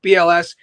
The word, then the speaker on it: WBLS: like Kiss FM and WBLS. Nobody from New York pronounces the W, by the way. Just a little tip in case you ever mention like, you know, old school heads like BLS.